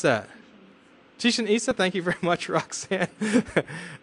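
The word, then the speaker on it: Chichén Itzá: Chicken Itza? How do you pronounce that? Chichen Itza?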